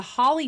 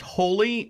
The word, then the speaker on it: Holi: correct you but it's it's pronounced holy h-o-l-i so what did i say oh holly okay so the holy festival right okay sorry